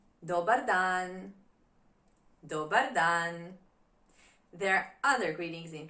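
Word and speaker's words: dobar dan: Good day, good afternoon is dodan. Doan dodan.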